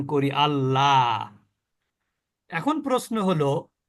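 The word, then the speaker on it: الله: অথবা পেশ থাকে তাহলে সে আল্লাহ শব্দটা ল এর মতন উচ্চারণ করতে হবে যেমন দেখেন এখানে আল্লাহ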